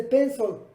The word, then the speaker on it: pencil: Por eso lápiz se dice pencil, no se dice pencil, se dice pencil. La L en inglés lleva un poquito de O.